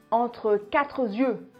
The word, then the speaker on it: entre quatre yeux: prochainement entre quatre dieux on le prononce entre quatre yeux ou entre cadieux une expression familière pour